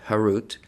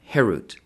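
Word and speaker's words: חֵרוּת: herut on the stones do not pronounce it carved harut but rather freedom herut to show that they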